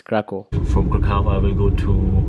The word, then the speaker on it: Kraków: to pull it now I'm going to Cracow didn't even know how to pronounce the name of the city its Krakow from Kahala we'll go